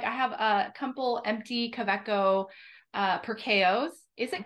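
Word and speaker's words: Kaweco: or coeco it's probably kaviko because it's uh the V and W in Germany are basically exactly the opposite pronunciation as in in the states which makes sense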